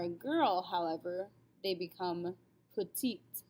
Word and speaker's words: petite: girl however they become petite we actually use this word in english as well we just don't pronounce it with the correct accent ever hear someone say that they're petite yeah same word all